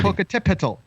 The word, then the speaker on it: Popocatépetl: Popocatépetl, like that's how you say it.